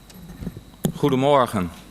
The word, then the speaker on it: Goedemorgen: Goedemorgen. That's the way to pronounce good morning.